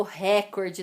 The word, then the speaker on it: recorde: Não é bater o recorde, não, bem. Que não é o ré, que é a sílaba mais forte, a tônica.